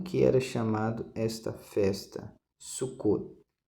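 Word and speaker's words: Sukkot: era chamado esta festa sucot se escreve sucote com temudo Mas você fala sucot sucot este é o nome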